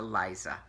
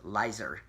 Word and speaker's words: Liza: And I takes them home to Liza," or sometimes pronounced Lizer.